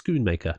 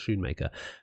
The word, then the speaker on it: Schoonmaker: tank Del and uh Luke's Schoonmaker not Shoemaker but came out with